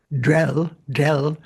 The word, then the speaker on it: Grel: So that, remember, this del is the same, that apostrophe Grel is actually pronounced del.